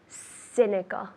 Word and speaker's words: cynical: the same but just the c cynical like an s cynical scenic perfect are you cynical